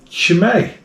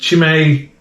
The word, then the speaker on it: Chimay: Sunday we have got shimay or shimay don't know how you pronounce it to be honest chimei is the way I'm going to say it and it's she may Trappist Brewery now what